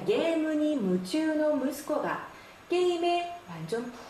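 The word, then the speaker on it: 夢中: 자, 이 중자는 한자 음으로는 주 또는 추라고 읽죠. 자, 뜻으로는 나가라고 있습니다. 자, 이 몽중이라고 해서 유매나가 아닌가요?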